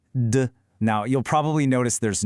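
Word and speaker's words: 的: It's duh.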